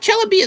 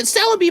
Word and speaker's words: Celebi: donate this chellabie here it's not chellabia celebi mister come on say